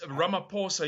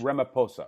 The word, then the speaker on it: Ramaphosa: Ramaphosa Cyril Ramaphosa your state president but yes rum a poor sir you don't pronounce the age Ramapo sir okay so Cyril Ramaphosa he referred to the